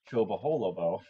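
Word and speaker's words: Chobolobo: In 1947, they bought the Laharis, Dutch word for country manor, the Chobaholobo. I pronounced that correctly as well, just letting people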